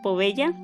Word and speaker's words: Poveglia: ¿Cómo dijimos que se pronuncia? Poveglia.